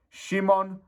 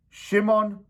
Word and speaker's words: Szymon: time that he's been there his name name Shimon VOD AR chi I hope that I